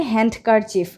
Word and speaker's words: handkerchief: তো এটাকে কিন্তু অনেকে আমরা বলি হ্যান্ডকারচিফ, রুমাল, হ্যান্ডকারচিফ। তো হ্যান্ডকারচিফ বলা যাবে না, এই যে ডিটা আছে ডিটা কিন্তু সাইলেন্ট থাকবে।